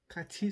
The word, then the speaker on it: 같이: हूँ, छोनन छिनगु हागो काछी सरायो। अब काछी जो है वो इकट्ठे को बोलते हैं, ये लिखा जाता है कात ई, लेकिन इसकी प्रोनाउंसिएशन होगी काछी।